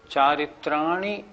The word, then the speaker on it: चारित्राणि: कुछ लोग कैसे बोलते हैं, सम्यक दर्शन ज्ञान चारित्राणी मोक्ष मार्ग, ये गलत हो गया। चारित्राणी नहीं, चारित्राणी, छोटी की मात्रा को छोटी की मात्रा बोलना है।